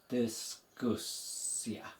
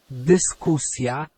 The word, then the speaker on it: dyskusja: Again, think about the root there. Visualize it in your mind. It's discussion. So it's the Y. Dyskusja. Dyskusja. Dyskusja.